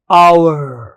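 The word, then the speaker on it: hour: एस से होते हैं लेकिन एच इनमें साइलेंट होता है। म्यूट होता है। एच का साउंड ही नहीं आता। एस से शुरू मत करो बोलना। एच के बाद शुरू करो। ओ से शुरू करो।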